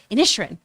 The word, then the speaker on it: Inisherin: Inisherin.